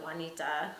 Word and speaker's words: Juanita: So Juanita, although it's not the J sound, it's written with a J.